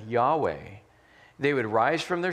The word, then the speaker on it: Yahweh: And so that is YHWH, or as we pronounce it, Yahweh.